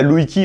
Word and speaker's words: Лужкі: Eliezer est un philologue juif, né à Lujki (Лужкі, prononcé "louj-ki") en 1858, dans l'actuelle Biélorussie.